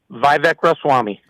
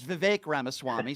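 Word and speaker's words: Vivek Ramaswamy: good leader how about vivec R Swami okay first of all you don't even know how to pronounce his name because you're a dope his name is VI ramaswami so that's number one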